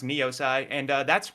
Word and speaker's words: Niosai: about that and it's still it was still pronounced neosi and uh that's how I landed on that